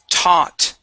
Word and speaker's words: taught: to fly excellent okay this word here is taught taught T excellent yeah so the a g makes an a sound only the GH is silent okay uh let's go